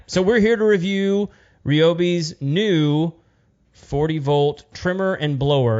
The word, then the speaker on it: Ryobi: No, I mean we know that these guys are going out of their way to pronounce it Ryobi on all of these.